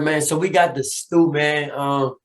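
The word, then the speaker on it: Da Stu: So we got the Stew, man. It's spelled DASTU, man, but it's pronounced the Stew, man, short for the studio.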